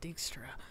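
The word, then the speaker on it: Dijkstra: for dextra dickstro that's how you say it dickstra it just doesn't look like that's how you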